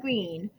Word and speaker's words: Greene: name is goon bird green that's green with a silent e at the end and I just moved